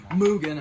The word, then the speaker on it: Mugen: Mugen. Oh, well, Mugen, actually. Yeah, people will get pissed if they hear you say it wrong.